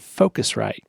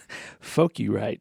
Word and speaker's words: Focusrite: Like right now, there's this microphone thing over here, and it's called Focusrite. And in my head, I had read it weird, and I was calling it Focurite.